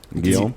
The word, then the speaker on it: Guillaume: Is that how you pronounce it? You're actually pretty good at it. Guillaume.